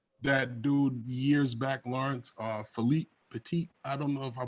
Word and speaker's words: Philippe Petit: Did I pronounce his name correctly? Yeah, no, you were spot on. Philippe Petit. Yeah. Philippe Petit.